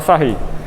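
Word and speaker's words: Sarrus: Se escreve Sarros, mas se fala Sarri.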